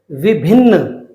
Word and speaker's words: विभिन्न: इस वाले न का उच्चारण बिना आ के होगा। तो विभिन्न, विभिन्न। अंतिम जो शब्द है, र